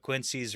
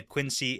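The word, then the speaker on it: quinzhee: But for the fun fact today, after we had our conversation with Spencer about Quincy's versus Igloos and what that meant for the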